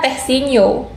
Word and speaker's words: The Sin Nio: Dibacanya Teh Sino.